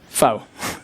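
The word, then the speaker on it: pho: FO. Okay. P H O. It's actually Vietnamese, but uh it works. It works. It's fine. I'll go with that one. And it's pronounced fur.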